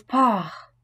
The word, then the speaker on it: Paar: En début de mot, ces consonnes ne se prononcent pas comme le P de patate, le T de tomate ou le K de kilo, mais sont accompagnées d'un léger H aspiré, que l'on doit bien percevoir. Das Paar, le couple.